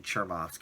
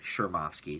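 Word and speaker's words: Chmerkovskiy: dancing with the stars i've i've been saying chermowski because it is a ch but they pronounced it on the show shermovsky so i'm gonna go with that it is a russian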